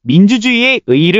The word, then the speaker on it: 민주주의의 의의: 의미를 다시금 새겨보게 되었는데요 민주주의의 의의를 올바른 발음으로 표기하면 어떻게 표기할 수 있을까요 원칙상으로는 민주주의의 의의가 맞지만 민주주의의 의의 민주주의의 의의 민주주의의 의의 민주주의의 의의 민주주의의 의의 민주주의의 의의 민주주의의 의의로 발음하는 것도 허용합니다 자 오늘의 영상은 여기에서